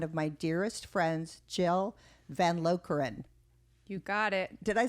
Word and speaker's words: Van Lokeren: i have one of my dearest friends jill van lokran you got it did i say your name